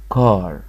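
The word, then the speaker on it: car: ال اللي وراها ار تملي تبقى ايه كده بس خارج معاها هوا، يعني بقول كار، فار.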